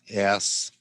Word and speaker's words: ASCII: Or how we pronounce this is you'll see ASCII, and it's pronounced ASCII, like that.